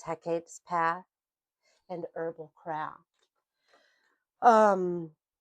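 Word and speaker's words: Hecate: I always pronounce it hecitate but that's not correct. It's hecapes path and herbal craft.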